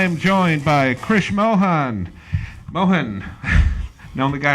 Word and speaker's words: Mohan: Mohan. Known the guy how many years and still get that name wrong.